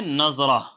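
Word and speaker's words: نضرہ: سے بہتر ہو سکتی ہے۔ اگلا نام ہے نظرہ، نون، ضاد، را اور ہا۔ آپ اس کی درست اسپیلنگ جو ہے وہ اسکرین پر دیکھ سکتے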